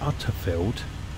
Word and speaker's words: Unterfeld: but I think it's utter field or unfield under unfield I keep want to put a D in it as in under but it's not it's UNFI I think